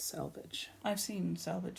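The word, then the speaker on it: selvage: v a g e pronounced the same means the same so I wouldn't worry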